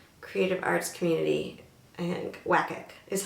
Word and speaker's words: WCAC: I think WCAC is how they want me to pronounce it.